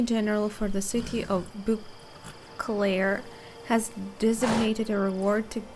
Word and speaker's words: Beauclair: Well, we've our Beauclair, hands full. That's how you pronounce it.